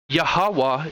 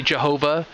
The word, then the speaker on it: Yahawah: yha or excuse me yahawah is the way I pronounce it yahawah whatever you know people say Jehovah Jehovah to me is just twisted around and saying the name you're